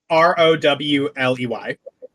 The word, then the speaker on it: Rowley: Is that spelled like Raleigh? Like RALEIGH? Rowley. Cool.